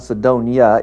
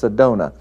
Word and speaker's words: Sedona: from Sedona Arizona I've been corrected it's not Sedonia it's Sedona so I know now how to pronounce it so I apologize for anyone that